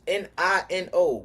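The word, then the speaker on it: Neno: Nino is N I N O. My name is N E N O. So it's pronounced Nino.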